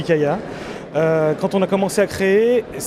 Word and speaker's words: Kya: It's pronounced “Kee-ya” or “Ka-ya” depending on the country...